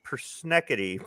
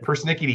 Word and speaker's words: persnickety: try to pronounce that i thought it was i thought the word was persneckity but persnickety he's a piece perceive